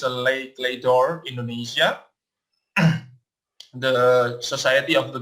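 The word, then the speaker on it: Les Clefs d'Or: But in the meantime, we are giving you an overview for what is Lekledor Indonesia and how do we pronounce it. It's a Lekledor Indonesia, the Society of the Golden Keys, which we are wearing right now.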